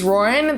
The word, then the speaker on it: Ruoyun: human my name is roran that is pronounced like lauren with an r instead of an l in the front and i help change